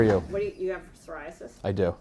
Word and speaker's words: psoriasis: What do you have psoriasis? I do. Is that how you say it? Psoriasis. PS, yes.